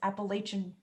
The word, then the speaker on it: Appalachian: not how you say it no that is appalachian what since when it's the appalachian trail i